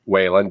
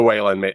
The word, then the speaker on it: Wayland: Lawson on Facebook asked how Whan is spelled. It is Whan.